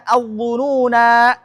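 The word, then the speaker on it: الظنونا: Apalagi yang ketiga kata al-dhununa. Surah Al-Ahzab. Al-dhununa. Nah, di sini kalau kita wasol, ini naknya nggak boleh baca panjang, harus pendek. Nah, kalau kita wakof baru dibaca panjang, nggak boleh pendek, panjang.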